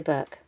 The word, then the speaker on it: Bourke: Ridge, and now we're on our way to Bourke. Hi, so we're setting off on our journey to Bourke. Well, we're having a debate. I checked it with Big Bad Barry. Oh, it is Bourke, not Bourke.